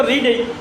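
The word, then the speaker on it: read: এখন রিডের পাস্ট তো রিড। রিড রেড রিড। রিড রিড রেড একই উচ্চারণটা হবে রেড তার মানে বানান কিন্তু একই রিড রেড রিড কিন্তু পাস্ট টেন্সে উচ্চারণ হবে রেড রিড রেড রিড তাহলে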